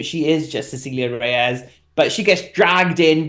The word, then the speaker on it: Cecilia Reyes: You're not even trying to pronounce that. No. It's Cecilia Reyes.